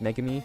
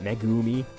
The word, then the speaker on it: megami: truth cuz I no megami is pronounced megami not megu me not quite dead was